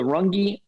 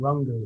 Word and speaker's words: Rungu: It's the Rungi dually. And Rungu. Rungu. Got a U, Rungu. Yeah, okay, Rungu.